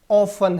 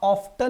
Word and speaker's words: often: इसलिए ज्यादा कॉमन जो इसका प्रोनाउंसिएशन है वो क्या है दोस्तों? ऑफन है। लेकिन इसका अर्थ ये कतई नहीं है कि आप ऑफ्टन नहीं प्रोनाउंस कर सकते। यू can also say often and you can also say often.